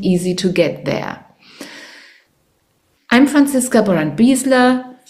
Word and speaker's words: Franziska Brandt-Biesler: I'm Franziska Brandt-Biesler. I don't know why I have to pronounce my name in English. Actually, it's Franziska Brandt-Biesler because I'm German.